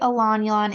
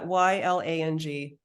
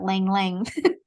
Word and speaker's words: ylang: you say Elan, is it spelled Ylang? Yeah. Ylang. Yeah. I was today's years old when I learned that's how you pronounce that. I've always said Lang Lang.